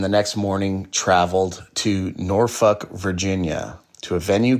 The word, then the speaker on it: Norfolk: But yeah, it's it's Norfuck. Norfuck, Virginia. Show two at the Norva in Norfuck, Virginia. And yes, it is pronounced Norfuck, not Norfolk, which most people would probably think.